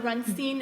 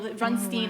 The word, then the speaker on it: Rundstein: So Rundstein, if anybody knows German, it's round stone, but actually I'm Yiddish. It's Yiddish. Well, Rundstein is the Yiddish pronunciation, so I figured out recently that I'm 1/8 Jewish.